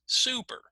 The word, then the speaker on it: super: So for example, in my first word, the stressed syllable, which one is going to be stressed? Do I say super or do I say super? Okay, well, if you guessed the first syllable, you're correct. So everyone say that, super, super. So notice how the first part is clear, right? It sounds louder.